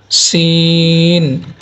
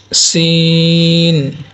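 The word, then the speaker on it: سين: জা যা অতঃপর সিন এটা পাতলা হবে মানে উচ্চারণটা পাতলা উচ্চারণ হবে সিন সিন সিন অতঃপর আমরা দেখতে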